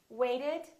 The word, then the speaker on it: waited: So this ED has an extra syllable. So we actually say waited.